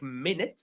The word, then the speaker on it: minute: It's written like minute, but it's pronounced minute.